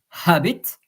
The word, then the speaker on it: habit: It's habit, Habit, habit, and in French, habit. The H is silent, by the way.